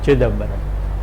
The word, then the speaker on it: Chidambaram: it is pronounced as Chidambaram, but a Tamil speaker will pronounce it with stress on the first syllable, something like Chidambaram.